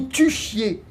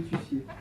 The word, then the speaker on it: tussiez: Que fièrement vous vous tuchiez. Arrête ce Tuchiez, comme ça se prononce. Oh, mais c'est horrible une dictée comme ça. Que fièrement vous vous tussiez.